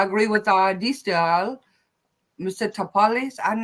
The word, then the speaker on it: Tapales: Tapales. I'm not sure how to pronounce his name.